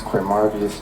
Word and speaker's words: Quamarvious: it again all right slow down your name spell it for this young lady right here okay my name is qu marus first name Q UA m a r